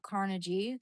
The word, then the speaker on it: Carnegie: Carnage rhymes with bikini.